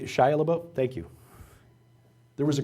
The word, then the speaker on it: Shia LaBeouf: Billy Bob Thornton, Shia LaBeouf, or however you pronounce that kid's name. There was a, Shia LaBeouf, thank you.